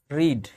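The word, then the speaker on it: read: रीड इसको पढ़ते हैं रेड। इसको भी पढ़ते हैं रेड। स्पेलिंग सेम रहता है। पढ़ने का तरीका अलग-अलग है।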